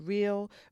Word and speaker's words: Real: And so anyway, I also made my way to a store called Real, which is spelled real, but it's called Real.